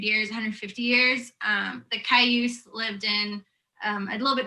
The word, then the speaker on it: Cayuse: the relationship between the tribes and how to pronounce all of them yeah so the tribes are umatilla cayuse and nest purse um currently right now they're